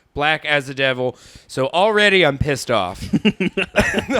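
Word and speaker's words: Blackacidevil: having a trouble yeah I thought it was black acid devil then I I read it's supposed to be pronounced like black as a devil so already I'm pissed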